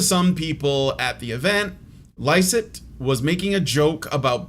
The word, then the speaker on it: Lycett: How do you say his name? Lycett. Lickett. Oh, it ain't gonna lick itself. It's not. It's Lycett, but I couldn't resist.